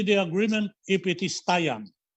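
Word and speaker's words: Taian: will sign only the agreement if it is taiyan taiyan is spelled t-a-i-a-n in the japanese calendar it brings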